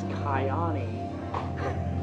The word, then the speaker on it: Kyani: Another thing I wanted to laugh about, you were like, at the very beginning, you go, I learned how to pronounce this, Kiani.